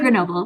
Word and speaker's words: Grenoble: Grenoble, Yeah, yeah.